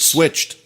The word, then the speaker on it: switched: cas, la famille des verbes qui vont se prononcer avec la sonorité T. To Une switch, famille dingue, mais bref. Switch. Switched.